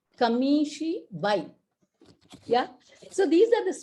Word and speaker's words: kamishibai: kamishibai keeps moving and it has to be pronounced as kamishi bhai yeah so these are